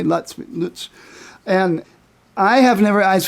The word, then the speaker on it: Lutz: You're actually using the actual German pronunciation. I usually hear Lutz by, most Americans say Lutz.